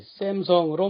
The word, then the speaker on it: Samsung: 그런데 세계 시장에서는 삼성보다는 샘성으로 더 많이 알려져 있습니다. S가 하나만 썼는데도 쌍시읒 소리, 샘성으로 말합니다.